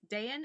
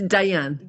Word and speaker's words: Dayan: um we have Dayan is that correct did I say it right it's Diane Diane Diane yeah Diane okay gotcha I got